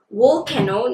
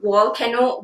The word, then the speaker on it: volcano: And then I'm wearing the shade wool kenno, not volcano, wool kenno, which is like a matte brown over my crease area.